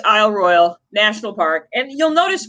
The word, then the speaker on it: Royale: to show you it it is spelled ro y le but it's not Royale for whatever reason it's royal it's it's French yeah so it's not no way you if you're gonna pronounce Isle royal pronounce it correctly or at least like the locals do so though you know